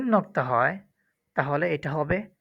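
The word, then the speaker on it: ح: সংক্ষিপ্তভাবে বলি, এখানে হা এটা মাখরাজ হচ্ছে হলকের মধ্যখান থেকে।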